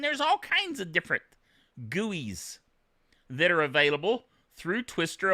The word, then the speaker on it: GUI: guis guys of course being graphical user interfaces gui gui is the way we pronounce it in the old computer world and